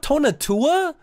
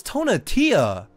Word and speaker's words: Tonatia: Oh, is that Tonatua? It's Tonatia. I've been saying it wrong this whole time. I thought it was Tonatua and the Jay to return.